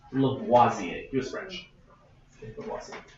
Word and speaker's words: Lavoisier: If you want to know how to pronounce it, it's pronounced Lavoisier.